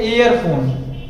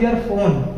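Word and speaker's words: earphone: ध्यान दीजिएगा, एक कुछ लोग बोलते हैं एयरफोन, कुछ लोग बोलते हैं एयरफोन। एयरफोन इज a wrong pronunciation होता है, सही प्रोनाउंसिएशन जो होता है वह होता है ईयरफोन।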